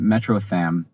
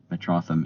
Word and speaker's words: Metrotham: I was pronouncing it Metroam, which you know that's fair if you try to read it, but it's it has a lot of superhero fandom involved. So, it's Metropolis and Gotham Metrotham.